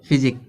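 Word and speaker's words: physique: में आ गया है, तो ये जो क्यू यू का उच्चारण क्या निकल रहा है, का निकल रहा है। यहाँ देखो का दिया है, फिजिक।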